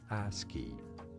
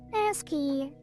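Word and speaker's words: ASCII: Esi pronunciation as it for American standard code for information interchange. How do you say it? Asky. Asky. Asky. Straightforward one. Word. We got it. Ask key.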